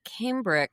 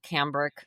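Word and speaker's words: cambric: to answer your question about Camdri, which is sometimes called Camdrich. I think it can be pronounced both ways, is Oh, I just made that up in my head.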